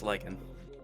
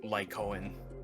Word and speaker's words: Lycan: It's supposed to be Von Lycan, and for the longest time I've been calling him like Lycoen and all that fun stuff.